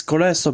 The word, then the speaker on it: koleso: It's koleso because the stress is always on the penultimate syllable.